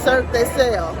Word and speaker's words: Cirque du Soleil: Cirque du Soleil.